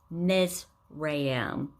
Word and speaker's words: Mizraim: This other name is pronounced Mizraim, Put, and Canaan.